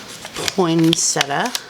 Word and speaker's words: poinsettia: Look at that beautiful poinsettia.